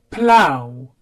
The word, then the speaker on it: plough: Plough, it makes the ow sound. Plough.